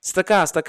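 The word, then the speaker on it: צדקה: They're actually pronouncing the shava na very quickly. So instead of saying tzedakah, they're saying stakah.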